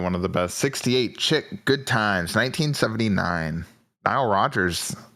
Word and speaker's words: Chic: Tangled Up In Blue 1975 you said it's pronounced chic Chic yeah okay that song Freak Out say